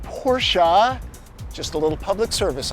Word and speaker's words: Porsche: And it is pronounced Porsche.